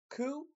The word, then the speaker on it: Khufu: All right, so um Pharaoh Kufu. All right, here's the uh annunciation. It's pronounced kufu. All right. So like with O's. I know it's it's u but it's kind of has that oo sound.